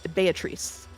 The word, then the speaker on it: Beatrice: uh actors are saying biche I will say that uh the Japanese pronunciation is based on on Italian pronunciation which I checked ahead of time and is Beatrice be batri bee without the toe okay and betri but